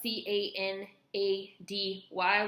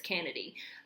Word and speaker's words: Canady: Kennedy this is spelled c a n a d y which to me looks like Canady but I'm pretty sure it's Kennedy um Alexa Kennedy she